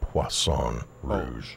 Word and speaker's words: Poisson Rouge: That would be Poisson Rouge. Oh my God. It's Poisson. the red fish.